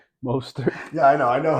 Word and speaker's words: Mostert: For whatever reason, yesterday I'm watching the Miami game, and I'm just screaming Mozerte. Mostert.